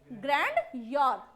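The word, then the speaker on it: grandeur: और ग्रैंडियर, क्या पढ़ेंगे इसे, ग्रैंडियर, ग्रैंड ई हटा दो, मतलब हटाना नहीं है, प्रोनाउंसिएशन में नहीं बोलना है, लिखते वक्त तो आएगा ग्रैंडियर, है ना, ग्रैंड लेवल पर करते हैं।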